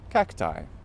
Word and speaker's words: cacti: say even directly from Latin today we normally pronounce as I so cacti though if you want to use the correct